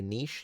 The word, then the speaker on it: niche: Nish. I would say niche.